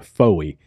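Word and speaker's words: Fowey: And on the south, there's a town called, I'm going to call it Foy.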